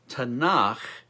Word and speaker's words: Tanakh: kevu team or writings tanakh rhymes with bach that's good is an